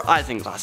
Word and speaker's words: isinglass: Number 6, we have isinglass, or isinglass. Depends on how you want to pronounce it.